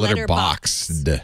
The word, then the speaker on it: Letterboxd: it's BOXD. Oh, Letterboxd. Like boxed.